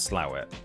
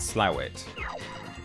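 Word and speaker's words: Slaithwaite: Yeah, it that word with all of those letters in it is pronounced slit. I assure you. And if you disagree, you're just not northern enough.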